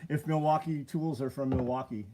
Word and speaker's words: Milwaukee: I don't know if Milwaukee tools are from Milwaukee. It's spelled Milwaukee. Milwaukee. There's no L in there.